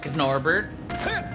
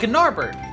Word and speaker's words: Gnorbert: And, you know, Gnorbert. Again, the G silent. Yeah, Gnorbert.